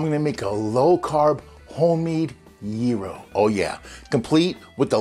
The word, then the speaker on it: gyro: they had slovaki, and they had gyros, which is not the right way to pronounce it. It's actually gyro, but we'll get into that.